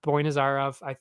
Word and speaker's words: Boynazarov: Yeah, Boynazarov.